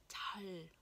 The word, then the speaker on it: 잘: Ở đây cái âm này khi mà nó đứng ở cuối, nó đứng là phụ âm ấy, thì mình sẽ phát âm hơi cong lưỡi lên. 잘, 잘, 잘, 잘, 잘 자.